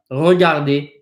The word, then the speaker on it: regardez: Regardez, regardez, regardez. This second R, these 2 R's are the same, except this one's pronounced a lot stronger than this one.